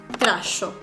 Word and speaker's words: trajo: Sí, palabras como esta o esta no se pronunciaban dijo o trajo, sino que se pronunciaban dicho, tracho.